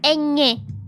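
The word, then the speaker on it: eñe: So it is pronounced N, Nye, as if you were saying like Nya, but it's a bit hard to pronounce for some people.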